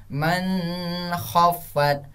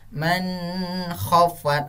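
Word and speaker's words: من خفت: Jadi lanjut, bukan seperti ini cara bacanya nak ya. Man khaffat, man khaffat. Bukan seperti itu, tapi tidak ada keluar kata-kata dengong.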